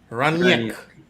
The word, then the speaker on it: Rangnick: Rangnick. Right. You gotta pronounce the GN like a Y.